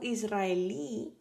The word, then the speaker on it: israelí: It has the tilde on the last syllable, right? So it means that is a palabra aguda. Yeah. So israelí, that's how you pronounce that word, israelí, iraquí, marroquí, tailandés, iraní, francés, inglés, alemán.